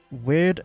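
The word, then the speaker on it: Wyrd: So, first ability is Weird Scythes. Now, it's W-Y-R-D, so weird, yep.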